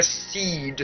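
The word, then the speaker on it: cee'd: first the key is c apostrophe d that's top gear call it although it's known now as the kia seed c i don't know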